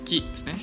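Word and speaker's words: 木: ggak bisa pohon aja bacanya Ki bukan yasumu tapi Ki dan ini ya pohon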